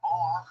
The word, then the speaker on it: Moloch: Moloch, or Molech, the Masoretic and the Septuagintal/Vulgate traditions of the biblical text actually contain two distinct ways of pronouncing this name, has become among